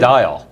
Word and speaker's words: Isodiol: Isodiol is actually the correct pronunciation.